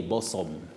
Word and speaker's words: bosom: Many people say bosom. Yeah. So what is bosom, but we say bosom. Oh. Bosom. Bosom. Okay, that's These are some of the surprising words because we were not told, so we always say what we see. But it's bosom.